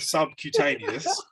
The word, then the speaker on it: subcutaneous: So when you say the word subcutaneous, sub-Q, you're pronouncing the start of the Q. Cutaneous.